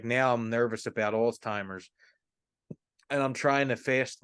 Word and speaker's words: Alzheimer's: wearing so worried about Alzheimer's there's no tea in also it's Alzheimer's Alzheimer's oh my Lord